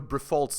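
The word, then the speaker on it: Briffault: Because I don't know if you know Brifault's law. It's spelled B-R-I-F-F-A-U-L-T, Brifault.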